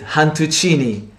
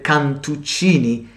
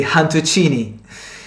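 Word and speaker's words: cantuccini: and they call it han tuccini they don't pronounce the letter c they pronounce they pronounce it with h so rather than kantuccini they say han tuccini so i'm going they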